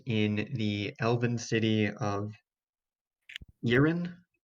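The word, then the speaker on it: Eryn: father's grave is in the elven city of yirin it's spelled e-r-y-n isn't that where nakaroth's other target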